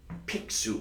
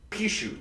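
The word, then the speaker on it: Pixiu: the creature that is a pixu or however you pronounce it Pichu thank you Pichu it is a Chinese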